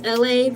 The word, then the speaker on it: Elay: My name is LA, pronounced like LA like the city.